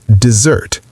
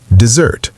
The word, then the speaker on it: dessert: Dessert is pronounced dessert. The stress is on the second syllable, zert. Dessert.